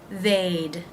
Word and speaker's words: they'd: The D with they, again, simply adds the D sound. They'd, they'd.